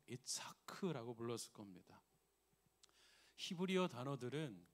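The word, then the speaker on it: יצחק: 히브리어로는 아브라함은 자기 아들을 이렇게 불렀겠죠. 이츠하크라고 불렀을 겁니다.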